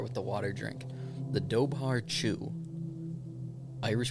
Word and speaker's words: dobhar-chú: got to start with the water drink the doar chu Irish pronunciation that oh yeah this is important too